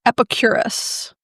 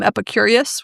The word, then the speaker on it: Epicurus: to visit the philosopher Epicurus. Did I say that right? I like to also call him Epicurius, which is not the right way to say it.